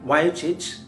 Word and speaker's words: Vujicic: It spells V-U-J-I-C-I-C. Then why does he pronounce as Vujicic? What is Vujicic? There is no connection between. Yes, there is a right pronunciation, Vujicic. It's not Vujicic, Vujicic.